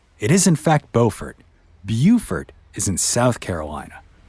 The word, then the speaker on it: Beaufort: before some of y'all email me about my pronunciation it is in fact beaufort beaufort is in south carolina well anyway beaufort